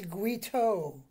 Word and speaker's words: Guito: Uto, it's Guito.